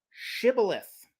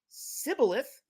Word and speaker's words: shibboleth: would say to him say now shibboleth but he said sibilith for he could not pronounce it correctly Then They seized them